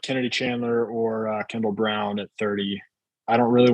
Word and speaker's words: Braun: Can we go They always They were saying Brown on telecasts and I was like, why do they say it like that? Yeah, it's Brown.